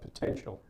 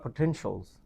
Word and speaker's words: potential: So this student has a lot of potential. Has a lot of potentials. Okay, so it's not potential, it's potential.